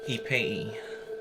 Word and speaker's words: Ipei: Ipei. Spell it.